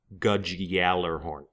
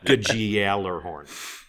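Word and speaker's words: Gjallarhorn: you're referring to is gudge galler horn nailed it i love it good good gal or horn and you're supposed to you're supposed to belabor the y sound too so let's say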